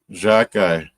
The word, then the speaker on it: Xhekaj: How you pronounce his name? Xhekaj.